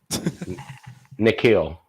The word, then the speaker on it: N'Keal: How do I pronounce it? Nikhil.